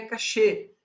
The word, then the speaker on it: cache: memória para ficar sem uma palavra francesa por isso que a pronúncia correta é cachê que vende castier também